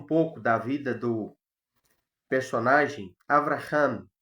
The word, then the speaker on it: Avraham: Domingo passado nós fizemos uma introdução e falamos um pouco da vida do personagem Avraham, é o nome original dele, e nós, aportuguesados, nós chamamos o nome dele, pronunciamos Abraão.